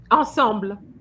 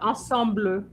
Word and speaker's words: ensemble: Ensemble. Two syllables. Amina. Ensemble. Ensemble. No, not ensembler. Ensemble assemble.